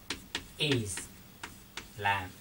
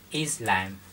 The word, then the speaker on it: Islam: Chúng ta đọc là Islam. Chúng ta nhấn phần 1 bạn nhé. Islam.